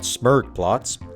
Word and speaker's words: Smurgplots: The germ for this opinion, I'd say, is that Smurgplots, the G is silent, is the first Mario game where foundational characters, Bowser and Peach foremost, are infused with some carefully engineered depth.